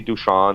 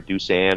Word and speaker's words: Dusan: me deuce and whether they call me duchamp or doosan or deuce it really doesn't matter but uh deuce came up short in my in my high school and college years um because um it's spelled just as it sounds d-u-s-a-n well on the very